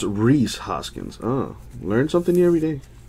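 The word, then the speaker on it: Rhys Hoskins: Reese or is it rice well what's what's the correct pronunciation of that man what else we have is that his knee is it Reese Reese Hoskins is the correct pronunciation to that there we go a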